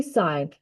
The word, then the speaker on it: sine: Did you guys know that sign is actually a four-letter word that is pronounced with a long i sound?